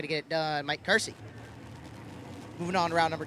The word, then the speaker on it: Kersey: Kersey out of Elgin, Illinois, I believe is how it's pronounced.